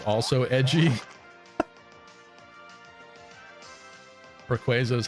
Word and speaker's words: Rayquaza: that Pokemon's name is a combination of Ray and quazar right so a lot of people say Rayquaza but it's quazar so isn't it Rayquaza is it not Rayquaza I think it's supposed